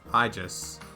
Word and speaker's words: Aegis: It's pronounced Aegis.